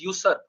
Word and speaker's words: usurp: The pronunciation for that word is usurp.